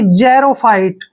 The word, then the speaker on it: Xerophyte: देखिए जब भी एक्स के साथ ई आता है तो एक्स का उच्चारण हम जय करते हैं, ठीक है ना। तो एक्स को हमने जय लिखना है, ई को ए की मात्रा पढ़ेंगे और आर को रे लिखेंगे, ओ को हम ओ की मात्रा पढ़ेंगे यानी कि जैरो, ठीक है ना, जैरो।